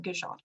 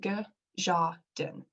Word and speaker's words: Gajadin: During the past year, I've started building a nonprofit organization called Gajadin, pronounced G-Ja-Din.